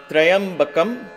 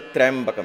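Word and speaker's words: त्र्यम्बकम्: So, we analyze the Trayambakam. It is Trayambakam, Trayambakam. Let's take that one word. Don't say Trayambakam. It is not Trayambakam. No, it's not that. Trayambakam. Tra and ya become one syllable.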